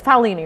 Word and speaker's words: Paolini: It's Paolini, right? Yes. Like the Good guy job. that wrote all the homeschool kid that wrote all the dragon books. Right, the dragon books. I'm so Chelsea sorry. Paolini.